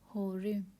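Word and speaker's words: הורים: होरिम, होरिम, होरिम करके प्रोनाउंस करते हैं, लेकिन लिखने के लिए ऐसे लिख सकते हैं हम लोग, होरिम, होरिम।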